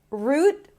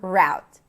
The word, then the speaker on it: route: Pronounce it the way it's comfortable for you because it's going to be clear either way or either way. Root or route.